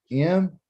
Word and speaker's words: Moedim: Second one is Moed, or third one is Moedim. Should have said Shalishi. The Shalishi? Moadim. Moadim. Okay. Moadim. Moadim. Okay, you can say it fast, slow. Moadim. Moadim. Okay. And usually that's spelled M-O-E-D-I-M.